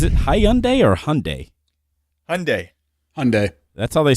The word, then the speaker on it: Hyundai: good car yeah yeah high-end a if that's how you want to pronounce it man I am not going away yeah what is it it's Hyundai Hyundai you know it's just